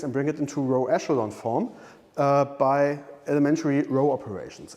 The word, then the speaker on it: echelon: Now I'm writing echelons, I pronounce it now ECH. I'm sorry about that. Echelon. form. Wait, have I not written this correctly? Let me look it up. Yes, sorry, it's pronounced echelon, but spelled E-C-H-E-L-O-N.